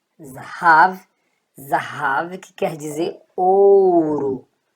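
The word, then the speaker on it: זהב: Então, ó, Zá, Rá, Vi. Zahav, Zahav, que quer dizer ouro.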